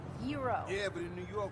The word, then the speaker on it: gyro: i'm telling you joe it's pronounced hero yeah but in new york we call them gyros it's great now i got in a fight